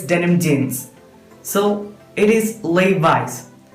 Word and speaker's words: Levi's: So കൂടുതൽ പേരും ഇത് ഈ നെയിം ഉച്ചരിക്കാറുള്ളത് ലെവീസ് എന്നതാണ്. It is wrong. It is Levi's.